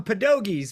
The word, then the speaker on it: pierogi: I do know what it, well, we call them pedogis. We pronounce the R as a D, but Come yes, on.